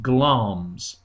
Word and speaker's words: Glamis: It's written, you can see here it's written Glamis, but it's pronounced Glamis, who is led to wicked thoughts by the prophecy of the three witches.